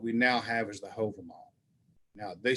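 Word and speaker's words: Hávamál: curious miscellaneous what we now have is the hover mall now they spell it here h-o-v-a-m-o-l many places you'll see it's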